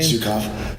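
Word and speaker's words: Zhukov: Zukov.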